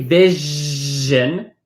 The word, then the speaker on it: vision: When we say vision, this S in vision is pronounced the same way as the French J.